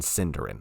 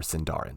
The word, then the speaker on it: Sindarin: of Elvish, Quenya and Sindarin, or Sindarin, depending on how you pronounce it.